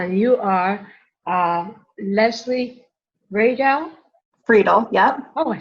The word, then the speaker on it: Friedel: Friedel, yep.